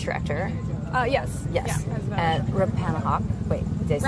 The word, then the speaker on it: Rappahannock: Yeah, at Rappahannock. Wait, did I say it right? Rappahannock.